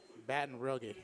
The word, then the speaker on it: Baton Rouge: Ryan Osborn, do you always notice when somebody says Baton Rouge, they have a little French, even Corey Neyland? You have to. I'm sorry, I should say it right. Baton Rouge.